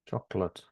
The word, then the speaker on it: chocolate: I think you're right no chocolate in both British and American English yes it has two syllables and you can check that in a dictionary CH in Spanish it has three isn't it choco Cho four CH syllables American chocolate chocolate chocolate yeah both has got two syllables and the stress is